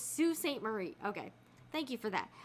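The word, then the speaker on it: Sault Ste. Marie: sew or craft okay that's pronounced Sue okay so it's not Sal Saint so it's Sue St Marie okay thank you for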